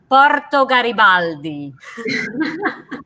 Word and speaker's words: Porto Garibaldi: we uh come to a town there everybody pronouncing the italian way watch how we roll our ours the name is porto garibaldi i love it yes we really wrote our